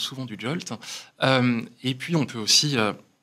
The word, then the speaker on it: JWT: On peut utiliser des jetons JWT, qu'on appelle souvent du JOLT. Ça se prononce souvent du JOLT.